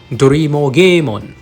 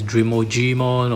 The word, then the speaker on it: Drimogemon: we have Drimogemon, or that's the Japanese pronunciation of the name, but some English pronunciation will call this Drimogemon or Drimogemon, but I think that GE probably we should pronounce it Ge. So anyway, it is derived from a Japanese name after all.